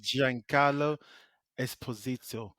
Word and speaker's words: Giancarlo Esposito: pronounced it sorry who's that supposed to be pronounced giancarlo esposito he is gus fring you know from breaking